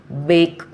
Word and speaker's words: bake: First rule: E can often be silent at the end of the word. Already you all know this. For example, clue, bake, taste. CLUE, clue. Here we are not pronouncing the letter E.